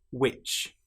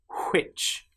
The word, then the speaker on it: which: Another common example is when you have WH together. Some very common words have this combination of letters. For example, what, which, where. In these cases, the H sound doesn't exist. Now, in some parts of England, they will say what, which, and where. But that's not common.